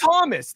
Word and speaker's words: Thomas: It's Thomas. Thomas is spelled THOMAS, and you just right, but nobody has ever kept the H in there.